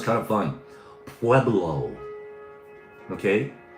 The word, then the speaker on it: Pueblo: Pueblo. Okay. It's not pronounced pew eblo. Pewlo. No, it's PB. Don't try the pew. It's pblo.